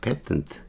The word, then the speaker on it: patent: 트 에 패턴 틉니다 패턴 트 발음을 고쳐야 되구요 제가 페인트가 아니고 패턴 츠 의사 강조 구문 이므로